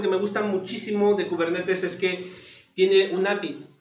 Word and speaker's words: Kubernetes: Entonces, a mí me gusta pronunciarlo Kubernetes, porque bueno, la palabra viene de griego. Una vez escuché cómo se pronunciaba, es muy parecido a español, Kubernetes, aunque los griegos lo pronuncian como Kubernetes.